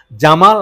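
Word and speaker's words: جمال: ঠিক যেমন আপনার সাদ্দাম বা গামেল আব্দুল কামেল জামাল আব্দুল নাসের কিন্তু ওদের ভাষায় জনা আদি জকে গ উচ্চারণ করা হয় তা গামেল আতুললাস বলা হয় ইজিপশিয়ান প্রথম প্রধানমন্ত্রী যে পোস্ট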